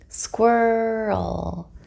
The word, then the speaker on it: squirrel: Squirrel, squirrel, squirrel. I hope you feel more confident when pronouncing the word squirrel using an American English accent.